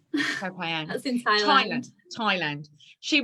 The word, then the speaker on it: Koh Phangan: How do you pronounce that? Koh Phangan. Koh Phangan.